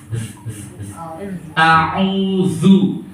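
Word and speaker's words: أعوذ: Jadi zal itu pengucapannya di ujung lidah agak sedikit dikeluarkan. Za, zu. Jadi ada sedikit getaran. A'udzu.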